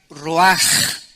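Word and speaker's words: רוּחַ: Esta palabra vientos es la palabra hebrea roach, que se pronuncia roaj. La CH en el hebreo se pronuncia como J, y que es la palabra espíritus.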